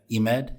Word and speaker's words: Emad: you pronounce your name I don't want to butcher the whole thing he made eMED yes how do you say your last name